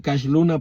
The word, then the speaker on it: Cash Luna: Luna o Cash Luna que él no se dice Cash Luna porque sea Cash de Money sino que se dice Cash porque cuando era niño él no podía pronunciar su nombre y entonces cuando le preguntaban Cómo te llamas él siempre decía casl Luna Cash los Luna Cash los luna y entonces sus contemporáneos empezaron a decirle Cash cashito cashito y le